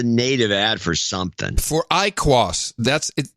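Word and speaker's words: IQOS: IQ you are yes I small I capital qos and you pronounce it I cross it's the shittiest branding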